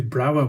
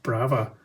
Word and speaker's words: Brawa: So today we've got two Brawa models to have a look at, or actually maybe it's pronounced Brava.